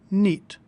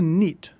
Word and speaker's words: knit: notice of the word knit is spelled with a silent K all words in English that are spelled with KN at the start are pronounced with an n sound knit no knife knee knob